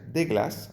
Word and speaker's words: des glaces: Des glaces, que se pronuncia de glace, ¿vale? De glace son unos helados.